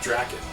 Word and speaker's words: Drakkhen: face of the Earth draon that's how you pronounce it I never really read